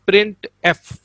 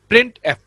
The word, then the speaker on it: printf: The function printf is pronounced as printf। इसको हम कैसे पढ़ेंगे? प्रिंट अलग हमारे पास वर्ड है और f अलग है। printf।